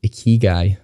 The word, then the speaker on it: Ikigai: Another one I love is called Ikigai. Now, I may pronounce that wrong, but essentially it is a Japanese word that means something along the lines of purpose.